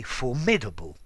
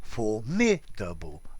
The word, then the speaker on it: formidable: either be formidable or for me double as i say it i think formidable stress at the beginning is probably slightly more common but you can say